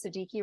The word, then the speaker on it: Siddiqi: So my name is Siddiqi. It rhymes with cheeky or freaky, depending on what context we're using.